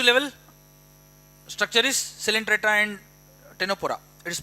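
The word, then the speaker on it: Ctenophora: These are okay only tissue level structure is celentra and tenopora. It is pronounced as tenopora. C silent here.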